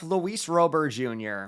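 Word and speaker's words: Luis Robert Jr.: which will bring up Lis Rober Jr before any of you say I'm pronouncing his name wrong this is exactly how the man himself pronounced is his own name on the team site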